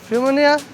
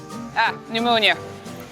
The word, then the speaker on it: pneumonia: The letter P should be silent. Pneumonia.